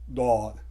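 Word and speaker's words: ض: इसमें एक डॉट है, और ये जो साउंड निकालता है ये डी की साउंड निकालता है, दौद।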